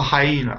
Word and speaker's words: hyena: It sounds like hyena. It's actually three syllables. Hyena. Hyena. Hyena, okay. Very small word to be three syllables, but it is.